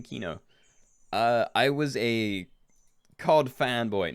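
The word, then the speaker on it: Kino: How did I come up with the name Keenoe? I was a COD fanboy. No, I did play a lot of COD games though. And one of my favorite zombies maps was Keenoe der Toten.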